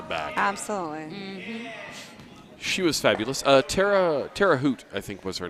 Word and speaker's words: Terre Haute: Tara Hoot, I think was her name. Terre Haute. Tara Hoot. Oh, but she pronounced it Terre Haute.